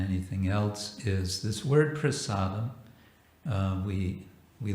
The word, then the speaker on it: prasada: religion kitchen religion uh the word prasada and we often pronounce it prasad because we like to sound bengali sanskrit would be prasad and this comes from